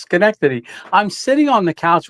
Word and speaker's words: Schenectady: Oh, Schenectady. The name on the side of the squirrel. So when I was in that video, I got so many people telling me it's Schenectady.